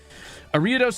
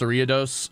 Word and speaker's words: Ariados: My brother says that he likes that you pronounce Ariados like Doritos.